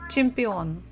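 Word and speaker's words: чемпион: IA chia gym Champion so we stress the final syllable chimpeon in English pretty much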